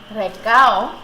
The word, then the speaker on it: recao: And 1 full green pepper, 4 leaves of recao.